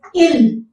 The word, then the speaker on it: il: How to say they when referred to masculine in French is il. Il. Notice it has the same sound like the he, il, but in writing you have to write s. Il.